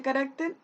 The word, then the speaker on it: carácter: ¿Y dónde se carga la voz? Carácter. En esta. Ahí. ¿Y cuál es esta sílaba? En la penúltima.